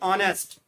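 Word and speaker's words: honest: Fourth है ऑनेस्ट। ठीक है, ऑनेस्ट में फर्स्ट लेटर एच साइलेंट रहता है।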